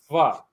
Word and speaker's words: pho: call it pho, but see that little squiggly line against the O? That is actually pronounced like an ah. So it is pho.